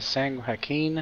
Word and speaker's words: San Joaquin: we gotta travel to sang Hakeem I think that's how you pronounce it Joaquin Delta all right